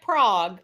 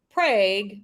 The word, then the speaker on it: Prague: the name again Anne Prague Oklahoma spelled like Prague but pronounced Prague because this is the U.S of a population